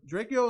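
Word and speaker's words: Drakeo: So I feel like Draco is kind of like a YG, but he's like really calm.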